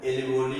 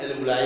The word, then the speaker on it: alveoli: होते हैं, इनको हम एल्वियोली कहते हैं। हम अमूमन एल्वियोलाई बोलते हैं। आप स्पेलिंग के हिसाब से प्रोनाउंसिएशन कर सकते हैं, जो समझे। स्पेलिंग यही है ALVEOLI, एल्वियोलाई।